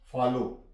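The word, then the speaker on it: follow: के आखिर पर डब्लू आ जाए तो डब्लू साइलेंट हो जाता है फॉर एग्जांपल फॉलो यहां पे आखर प डब् आया है डब्लू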